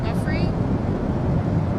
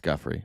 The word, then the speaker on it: Giuffre: President, did one of those stolen, persons, that include Virginia Giuffre?